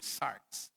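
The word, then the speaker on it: sarx: The the Greek word for flesh or sinful nature is sars. It's it is pronounc s a rx or sars.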